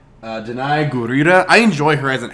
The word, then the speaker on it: Danai Gurira: Remember how to pronounce her name right. Danai Gurira.